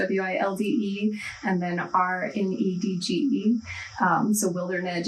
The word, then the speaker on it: Wildernedge: So it's spelled like wild, my last name, WILDE, and then RNEDGE. So Wildernedge, it's the idea of I'm meeting people at